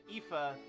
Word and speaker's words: Aoife: How do you pronounce that name? Aoife.